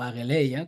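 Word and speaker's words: ἀγγελία: Aparte de esto, se puede apreciar cómo Juan utiliza ahora el mensaje angeleia en griego, o ageleia, como lo pronunciáis, ¿no?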